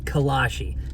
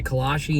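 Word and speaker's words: kolache: a kalashi before honestly i didn't even know if i was pronouncing correct i did ask the kind lady in the bakery and she said it is a kalashe and she recommended heating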